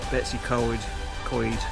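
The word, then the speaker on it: Betws-y-Coed: reach uh theu and uh Beyond there towards Betsy c c that's how you pronounce it so um okay I'll report in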